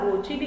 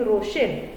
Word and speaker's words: Rochelle: This sodium potassium tartrate, it also commonly called as Rochelle salt, or याला रोचिली असं सुद्धा स्पेलिंगचं pronunciation आहे, but most commonly रोशेल हे नाव वापरलं जातं किंवा प्रोनाउन्सिएशन केलं जातं.